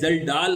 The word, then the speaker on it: Kjeldahl: ज्यादा टेस्ट किए थे, तो इसकी स्पेलिंग है KJELDAHL, जल्डाल अमोनिया इसको हम बोलते हैं।